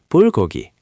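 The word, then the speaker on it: 불고기: First block, b is b, u is u, ul is ul, so bull. Second, g is g, o is o, go. Third, g is g, e is e, gi, bulgogi.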